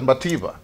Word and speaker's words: Madiba: nelson mandela is called madiba but actually in his hometown uh in the eastern cape they pronounce it as mativa you know and that sounds very close to matiba maybe if you look